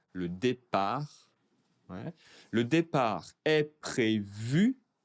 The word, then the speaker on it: départ: Le départ. Attention, je ne prononce pas le t. Le départ.